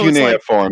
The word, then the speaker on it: cuneiform: So Cuneiform, that's how you say it.